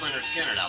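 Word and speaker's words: Lynyrd Skynyrd: is an homage to leonard skinner's uh pronounced leonard skinner their first album and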